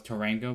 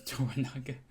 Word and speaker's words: Toranaga: uh funny Lord toranaga I butchered his name in the last episode I thought it was Tango but it was toranaga so and we also